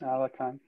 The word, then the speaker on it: Alekhine: It looks like Alekhine, Alekhine. Okay. But it pronounced Alekhine.